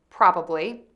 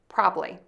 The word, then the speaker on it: probably: There are two acceptable ways to say this word, with three syllables, probably, or with two syllables, probably.